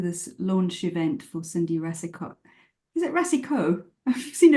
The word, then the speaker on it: Rasicot: different so it's it's it's just a French pronunciation of rasicot yeah okay so we're